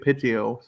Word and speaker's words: Pidgeot: Pidgeotto then. Pidgeot is Yes, pronounced Pidgeot.